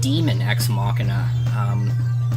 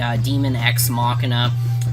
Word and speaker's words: Daemon X Machina: Actually, I think it's pronounced Demon X Machina.